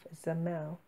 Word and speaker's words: Zamel: Well, technically, we landed in the kingdom of Zamel. Rhymes with camel.